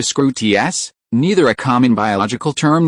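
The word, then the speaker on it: Skrewt: Its pronunciation is close to scruts.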